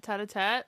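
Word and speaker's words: tête-à-tête: Tete-a-tete.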